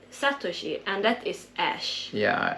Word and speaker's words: Satoshi: what is the trainer sutoshi name in English I remember pronouncing it wrong yeah I think if you should probably mean Satoshi and that is Ash